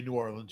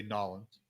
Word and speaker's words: New Orleans: That's you don't say New Orleans, you say Nolans.